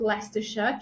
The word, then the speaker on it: Leicestershire: So I live in a place called Leicestershire. Try and spell it if you can. It's one of those English words that just does not spell like it sounds.